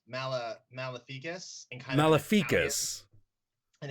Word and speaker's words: Maleficus: Google it's pronounced Mala malificus in kind of Mal an Italian sort of style Latin accent it's Latin for evil